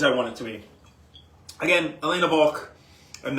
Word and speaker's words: Walch: wanted to be again Elena balk and that is pronounced Volk with a V they are the family